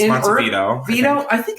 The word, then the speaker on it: Montevideo: It's Montevideo. Vito. I think it's spelled E-L though.